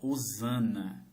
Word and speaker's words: Hosana: Nas Bíblias atuais está escrito Hosana com H, porque no nosso idioma tem muitas palavras com H que nós não pronunciamos. Por exemplo, helicóptero tem H na frente, não pronunciamos.